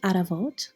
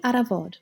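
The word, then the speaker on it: առավոտ: Either aravot for eastern Armenian or aravod for western Armenian.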